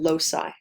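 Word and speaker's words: loci: the pronunciation because it's not obvious how you pronounce this um so that's the singular so one Locus and multiple Losi okay um we take a lot of these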